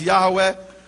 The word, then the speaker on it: Yahweh: Him by His name, which is Yehovah, or others pronounce Yahweh.